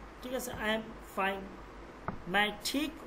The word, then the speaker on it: मैं: मैं ठीक हूँ, হুঁ এটা হচ্ছে নুনে গুন্না এটাকে, ঠিক আছে। এটা উচ্চারণ হবে না, তবে নাকের মধ্যে হালকা চলে আসবে উচ্চারণটা।